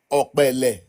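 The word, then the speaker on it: Opele: Ole.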